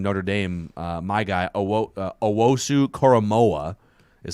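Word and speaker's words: Owusu-Koramoah: the linebacker from notre dame uh my guy owosu koromoa is how you pronounce his last name dylan radens from is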